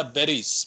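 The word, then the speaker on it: Berries: ये कैनेडा बेरेस नहीं, हम इसको यहाँ प्रोनाउंस करते हैं कैनेडा बेरीज, बेरीज खाने वाली बेरीज होती हैं जो, कैनेडा जी बेरीज एंटरप्राइज लिमिटेड, इसको हम बेरीज बोलते हैं, चलो बेरेस ही सही।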